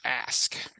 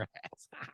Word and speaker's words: Ask: My deep cut was If You Want to Touch Her, Ask. Okay. You really got to pronounce that K there. If you want to touch your ass.